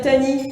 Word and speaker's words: Tahnee: Je me suis pas présentée, je m'appelle Tani. Tani, ça s'écrit T-A-H-N-E-E.